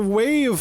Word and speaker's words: WAV: Is that how you pronounce it? No, it's a wave file.